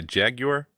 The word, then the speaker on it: Jaguar: know it was smart Jaguar you'd say jag your or Jaguar that's it at Jaguar was only for Jaguar nobody says that yes plenty people say that's how it's actually like closer to how it's spelled we're anything where did